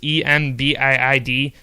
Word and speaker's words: Embiid: It's Embiid.